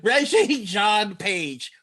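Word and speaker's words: Regé-Jean Page: I'm gonna say it with my whole chest confidently, like I'm not about to mispronounce this gentleman's name. Regé Jean Page.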